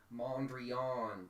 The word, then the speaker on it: Mondrian: It's pronounced Mondrian, dude.